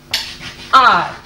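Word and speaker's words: hour: इसी तरह से कई और शब्द हैं, एन आर। स्टार्ट किससे हो रहा है? एच से, जो कि कॉन्सनेंट है, मगर प्रोनाउंस हम कैसे कर रहे हैं? एन आर। इसको हम इस तरह से प्रोनाउंस करते हैं, एन आर।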